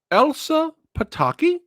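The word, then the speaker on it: Elsa Pataky: a question kyle help me out here now elsa pataki yeah did i did i say her name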